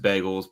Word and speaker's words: bagel: Are you saying bagels right? Because I don't know how to say it. You mean like bagels? Bagels. Big. Like with a BEHGEHL. There's definitely some bagel. Bagel. Because I say bagel. I say bagel. As it's spelled. but I think you're not supposed to say it that way.